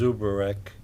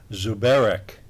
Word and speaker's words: Zubarek: I'm Zubarek, and and pronounce it properly as Zubarek, but Joe Collins used to call it out as Zubarek.